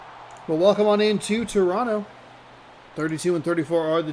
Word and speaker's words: Toronto: Toronto, excuse me. You don't pronounce the second T.